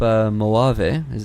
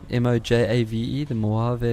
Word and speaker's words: Mojave: I mean, I've always been slated this by everyone, but because of Mojave, did I pronounce it right? Mojave, the Mojave.